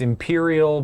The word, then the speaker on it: Empyreal: imperial spells and steam it's spelled e-m-p-y-r-e-a-l so it's it's imperial but it's fancy it's fantasy trains love